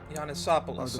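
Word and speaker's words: Janusopolis: Janisopolis. Okay, that's how you pronounce it.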